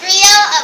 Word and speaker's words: griot: It's spelled G-R-I-O-T, but it's pronounced griot. The T is silent.